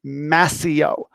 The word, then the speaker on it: Mascio: First off, hi, my name is Mr. Mascio. Go ahead and say it. You don't have to unmute yourself, but just say it, Mascio. That's how you say it. It's not Mascio. It's not Mascio. And it's Mascio. I always go, Mascio, Mascio, Mascio.